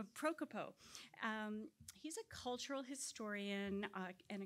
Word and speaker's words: Propikov: Propikov. I even said it wrong. It's one of those many voweled names. Propikov.